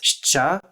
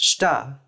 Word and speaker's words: Щ: In Ukrainian, it's pronounced shcha, as a cluster of the voiceless post-alveolar fricative and affricate, and in Bulgarian, it's pronounced shta, as a cluster of the unvoiced post-alveolar fricative and alveolar stop.